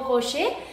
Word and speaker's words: rocher: ¿Conoces esos deliciosos chocolates Ferrero Rocher? Entonces, de hoy en adelante ya no puedes decir Ferrero Rocher, sino Ferrero Rocher. ¿Por qué se pronuncia rocher? Porque quedamos que ER final se pronuncia E.